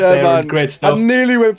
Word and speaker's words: Aaron: And you pronounced my name right as well. It's Aaron.